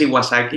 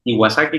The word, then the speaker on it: Iwasaki: Pues bueno, yo soy Iwasaki y como tal y como se escribe mi nombre, como Iwasaki, como la Kawasaki, pero con I, me pueden encontrar en todas las plataformas.